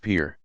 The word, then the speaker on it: pir: title of shake or it's Persian equivalent per pronounced pier you are there any sub communities or denominations